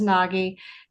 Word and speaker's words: Naggi: Um yes, is the pronunciation is Naggi and I will um I am excited that Commissioner Naggi and Commissioner Simmons will try to work together on this.